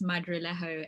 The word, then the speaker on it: Madrilejo: name um but yeah the last name is madrillejo and it's actually spanish okay but we can